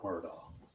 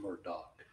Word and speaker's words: Murdaugh: Fox it is our honor to represent Alec murdaugh from Murdock depending on how you pronounce it I say it's our honor because